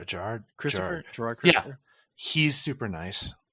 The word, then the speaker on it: Gerard Christopher: the nicest guy uh J how do you pronounce his name uh Gerard J Gerard Christopher Gerard Christopher he's super nice I almost got